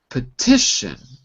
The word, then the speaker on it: petition: okay and finally uh online petition second syllable petition petition that's it very good